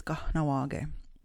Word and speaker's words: Kahnawá:ke: like how you would spell it appropriately and pronounce it, it's Kahnawá.